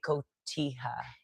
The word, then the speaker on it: cotija: And yeah, but you would do better with like cotija.